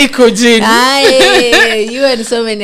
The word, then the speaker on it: Ikojn: Okay, so actually the name Ikojn is my name backwards. Oh, Yes. okay. Yes. That's interesting. So if you look at it, it's actually spelled backwards, and the J is silent.